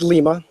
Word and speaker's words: Lima: here with um Lio um am I pronouncing that right uh it's lima lima okay um with um coexis coin how